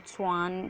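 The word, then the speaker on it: Schwann: तो बहुत लोग इसका प्रोनाउंसिएशन अलग अलग तरीके से करते हैं, तो आप स्लेडेन एंड श्वान करके कर सकते हैं।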